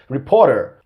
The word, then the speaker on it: reporter: He used the American pronunciation to pronounce these two words, reporter and little. Okay? He replaced the T there with a D sound, okay? So that's one feature of the American accent.